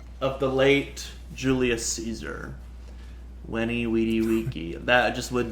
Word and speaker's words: Veni: Yes, but in Latin, in classical Latin, the V is pronounced like a W. Wenny.